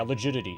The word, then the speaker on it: legidity: Yeah, legidity, exactly. Easy to remember because it rhymes with rigidity.